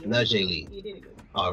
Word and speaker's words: Naujae Lee: We've got a special interview right now with our special guest in studio, fraud analyst Naujae Lee. I hope I pronounced it right.